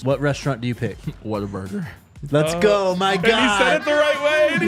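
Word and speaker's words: Whataburger: it the right way he said it what a burger I the honey butter chicken biscuits I'd lose my mind why don't you tell Tyler how you say it Water Burger I mean you're from I mean it's it's different but hey I gets the job it gets your point across he's too nice oh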